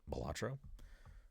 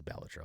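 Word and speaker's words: Balatro: because obviously Bellatro was Bolatro or Batro. Um, I don't think I'm ever going to say that name properly. I believe the correct way to say it is Bellatro.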